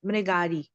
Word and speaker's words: Mrigari: name of today's Kata it's mgar m r i g a r i some of the kids could not pronounce it so just for confirmation it's m ari marari okay can see it on